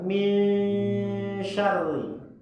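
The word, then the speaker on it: مِن شَرِّ: Misha. Mi bunyinya mi. Bukan min tapi min syarri.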